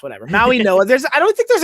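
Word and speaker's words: Mauigoa: Maui Noah. There's I don't think there's an N in his name. Nonetheless, there's not, but that that there's a pronunciation of an N in his name by not not by me apparently.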